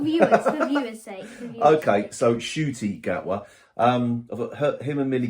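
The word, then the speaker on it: Ncuti: pair of them um it's in shoy Now isn't it it's not shooty g apparently he's he's been saying it wrong himself for all these years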